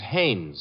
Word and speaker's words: Haynes: No, not Hines. Haynes.